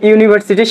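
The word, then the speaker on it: university: ইউনিভার্সিটি, এখানে কিসের মতো উচ্চারিত হচ্ছে ইউ এর মতো।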